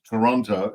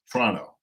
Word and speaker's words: Toronto: and he used to tell me all about not Toronto, it's Toronto. Toronto. Got to say it right.